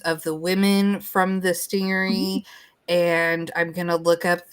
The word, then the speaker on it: stingaree: And it is okay, so stingery is based on stingray. It's actually STINGAREE, but that is how they pronounced it back in the olden days, like in the 1880s.